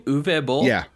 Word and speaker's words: Uwe Boll: And is that how you pronounce his name? Uwe Boll?